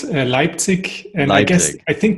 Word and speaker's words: Leipzig: hotels coming to us from germany did i pronounce that right well um it's called leipzig and i guess i think there's also an